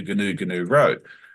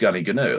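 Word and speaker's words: Goonoo Goonoo: my hometown is called it's spelled Goonoo and then a space and the same word again. So most Oh. outsiders will come in and go, where can you tell me how to get to Gnu Road? Sure, it's down there. It's actually pronounced Gunny Gnu. Like it's totally and utterly different, not even close.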